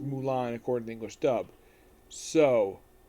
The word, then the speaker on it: Mulan: ones it's slightly different but her name is pronounced Mulan according to English dub so they pretty much